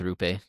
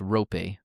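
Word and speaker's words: Roope: And actually, we were told in the disc D discord that it's rope. So, I know that Rupe is more fun to say, but I'm gonna try and pronounce it better from now on.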